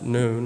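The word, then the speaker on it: נון: 14th letter none is pronounced noon like high noon it has a numerical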